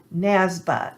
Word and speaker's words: NASBA: state boards of accountancy or nasba as it's pronounced by the way aicpa